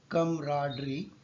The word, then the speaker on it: camaraderie: So the word camaraderie is pronounced as camaraderie.